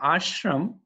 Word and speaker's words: ashram: So similarly, the ashram, that there is a long A in front of shram.